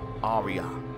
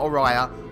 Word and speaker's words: Araya: back to play more Arya not arah Arya got the name wrong